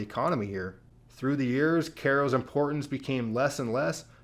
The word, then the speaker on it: Cairo: And famously at this point is the town of Caro, spelled like Cairo, Egypt. The county has about 4,500 people. It had 25,000 in 1940. The city of Ko has 1,700 people.